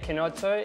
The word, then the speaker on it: Chinotto: So Chinotto, is that the best way to pronounce it? Yeah, Chinotto is it's an Italian soft drink.